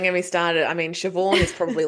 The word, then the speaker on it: Siobhan: I mean, Siobhan is probably like the limit of how much my brain can like remember.